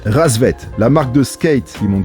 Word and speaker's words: Rassvet: avec carhartt vit pas ça s'écrit pas bête mais ça se prononce rassvet en russe et ça veut dire